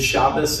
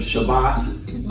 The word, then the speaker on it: Shabbat: And in the Ashkenazi, that uh version without the dot in it also has an S sound. So, that's why you sometimes hear good shabbos. Anybody ever heard that? Instead of Shabbat, um that's the difference in the pronunciation of that letter.